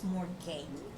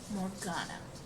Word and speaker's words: Morgana: To me, the way the channel name for the daughter's name is spelled, to me it looks like it says Morgane, but Lewis, who is the mother, um, pronounces it Morgana.